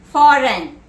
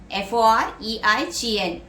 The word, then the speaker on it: foreign: Next word, foreign, F-O-R-E-I-G-N, foreign. Foreign relating to another country or situated outside one's own country. That is foreign, F-O-R-E-I-G-N, G is silent.